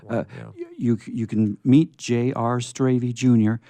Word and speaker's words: Strayve: And remember, Strayve rhymes with gravy.